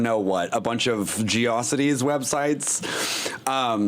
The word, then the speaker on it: GeoCities: It existed, but it was like, porn and I don't know what, a bunch of Geocities websites. It's pronounced GeoCities, and it's pronounced memes, not Mimi.